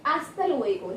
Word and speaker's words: hasta luego: are clear to you in spanish we never pronounce it so it is hasta luego never say hasta